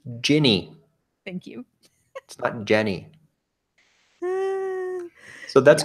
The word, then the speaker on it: Gini: they haven't taken care because it's GI n I it's not GI n a it's not gi gi I'm gonna pronounce it for everyone since we're doing audio here Ginny Thank You Jenny so